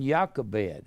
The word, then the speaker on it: Jochebed: Josephus said that Amram and Jochebed, Amram, and J-O-C-H-A-B-E-D, pronounced like a Y-A, Jochebed.